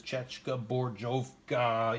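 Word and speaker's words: Česká zbrojovka: I'm not even going to go into how to pronounce what the real name is. Chechka Borjovka.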